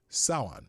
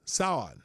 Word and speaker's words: Samhain: It's Samhain. Samhain.